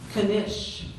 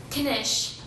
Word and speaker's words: knish: Knish. Language of origin, please? This is from a word that went from Russian to Yiddish. Knish. K-N-I-S-H.